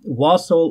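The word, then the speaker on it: wassail: here pretty quick but yes wasle or was uh those are apparently two correct pronunciations of that word word I'm going to call it wasel just for the ease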